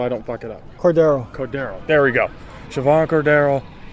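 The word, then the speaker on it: Cordeiro: Pronounce it for me so I don't fuck it up. Cordero.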